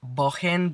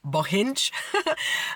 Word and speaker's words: Bohinj: It's called Lake Bohin, but in English, I often heard it pronounced Lake Bohinj.